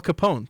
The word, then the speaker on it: Capone: don't know who Al Capone was am I am I saying his name wrong or the Newsies I I've never heard of Al Capon Capone Capone he's Italian all right that's something new